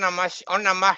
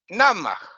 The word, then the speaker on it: namaḥ: Even they pronounce bad Om Namah Shivaya. They pronounce Om Namah Shivaya. And it's not Om Namah Shivaya, it's Om Namah Shivaya. Om Namah Shivaya. Namah Shivaya, no Nama. Namah or Nama.